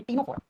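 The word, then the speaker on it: Ctenophora: चलो अब हम आज तीसरा फाइलम पढ़ने जा रहे हैं, जिस फाइलम का नाम है टीनोफोरा। टीनोफोरा फाइलम लिखते हैं, सी से प्रोनाउंस करते हैं तो टी से करते हैं बेटा।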